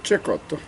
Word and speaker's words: Cecotto: tuo il tuo nome come aveva pronunciato in spagnolo se cotto o in italiano cecotto cecotto cecotto bene ovviamente venezia di cui